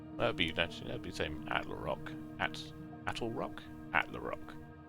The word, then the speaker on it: Attlerock: I almost said Atlarock. That'd be the same. Attlerock.